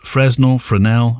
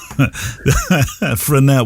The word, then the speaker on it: Fresnel: Fresnel? Everybody says Fresnel. Yeah, Fresnel. I think it's Fresnel. Yeah, I hear people say Fresnel as well. I'm thinking... Yeah. I used to. Yeah, Fresnel.